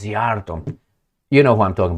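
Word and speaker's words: Szijjártó: She made sure that his name is not Giardto or whatever I was pronouncing. This is Zarto.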